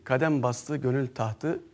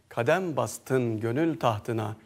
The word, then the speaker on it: Kadem bastın gönül tahtına: Efendi'ye ait bu eser hepimizin bildiği Kadem Bastı Gönül tahtı a Sultanım şeklinde maalesef yıllardır yanlış okunuyor Biz Tabii burada bir art niyet arıyor değiliz yanlış aktarılmış yanlış söylenmiş olabilir Beşer şaşar demişler ama tabii yanlışta ısrar etmemek lazım şimdi bu eserin doğru telaffuzunu Siz İrfan türküleri izleyicileriyle paylaşacağız Kadem bastın gönül tahtına Sultanım Safa geldin Adem